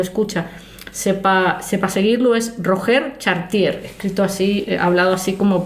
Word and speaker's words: Roger Chartier: Es Roger Chartier, escrito así, hablado así como para los de Burgos.